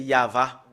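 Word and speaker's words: יהוה: Voilà le fait de le prononcer, c'est Yava.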